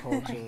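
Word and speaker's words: Colter: Mike Coulter.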